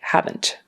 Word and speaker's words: haven't: do the negative like haven't haven't haven't so haven't is the contraction for have not and it's really important to have that sound on the end that NT sound haven't if you don't